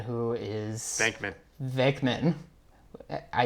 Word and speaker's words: Venkman: So, and then you got, Peter Venkman, who is... Venkman. I said his name wrong?